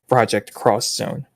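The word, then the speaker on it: Project X Zone: game which is pronounced project cross Zone because it's supposed to be like this x this is supposed to be a cross kind of thing crossover interesting because Union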